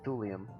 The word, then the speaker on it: thulium: So it's a thulium. Is that how you pronounce that? They're all actual elements. You shouldn't have a hard time pronouncing them. But yeah, it's thulium.